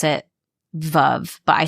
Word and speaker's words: Veuve: And they have, I know you pronounce it Veuve, but I say Veuve.